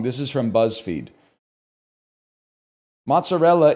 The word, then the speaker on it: mozzarella: Mozzarella is pronounced mozzarella, not mozzarella.